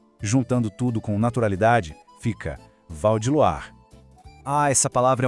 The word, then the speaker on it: Val de Loire: A pronúncia aqui é sobre fluidez, sobre deixar o som correr. Val de Loire. O Val é rápido, direto. Em Loire, a combinação OI tem um som de UA.